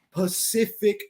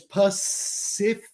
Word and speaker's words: Pacific: He visto algo en Facebook súper interesante, que la palabra Pacific Ocean tiene 3 Cs y todos se pronuncian diferentes. So es Pacific, así que es como S y K, Pacific Ocean. Así que la tercera es como SH.